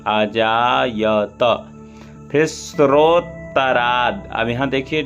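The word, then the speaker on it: अजायत: ता हलंत नहीं लगा है इसलिए ता के बाद आ आना चाहिए, आजायत।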